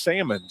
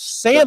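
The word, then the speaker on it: Salmons: Last name is pronounced Sammons. Sammons. The L is silent.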